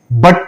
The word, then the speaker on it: but: य जब आया और हमने उसको आ पढ़ा बट पढ़ा तो व हो जाएगा हमारा शॉर्ट साउंड